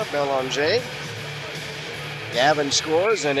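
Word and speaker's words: Belanger: It's looks like Banger but it has a French pronunciation. B E L A N G E R Belon.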